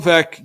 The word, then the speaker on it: Veeck: There's a book, that helps with the pronunciation. Veeck is in rec.